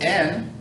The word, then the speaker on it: en: right cell phone the word n sounds like the word in which is correct it means in or on spanish doesn't make a